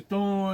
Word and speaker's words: Thann: Et ben dimanche 4 mai, le temps est mossade. On a quitté Bfort ce matin pour se diriger vers temps. Ça s'écrit t h a n.